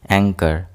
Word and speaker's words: anchor: Here H will be silent. Anchor. Anchor. Here H is silent.